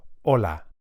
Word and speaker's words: hola: A good place to start is the word hello, which in Spanish is hola. Hola. You can hear that the initial H is silent.